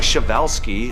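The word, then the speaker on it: Przewalski: So pronounce something like Shavevelski. Shavevelskis Horse is a prehistoric-looking beast that once roamed the steppes of Central Asia.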